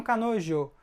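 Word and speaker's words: 彼女: homem cárie ele tá nojo ela tá essa pronúncia aqui ó a gente fala Joe Canon não kanojo ok muita gente fala se vê isso na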